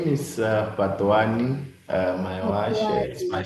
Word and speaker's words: Fhatuwani: It's Often people say Patwani. It's like Patwani. It's like you almost need to be blowing air. Patwani.